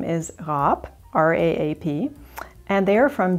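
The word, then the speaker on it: Raap: spoken in german and it is a soft r and the two a's elongate the vowel and it is pronounced rap and finally do you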